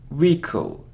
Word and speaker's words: vehicle: B it's climb okay how do we pronounce this word it isn't vehicle or vehicle no it's vehicle Rico so we don't pronounce age wicka-wicka-wicka-wicka look it isn't